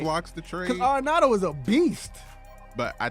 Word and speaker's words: Arenado: How you pronounce his name? Arenado.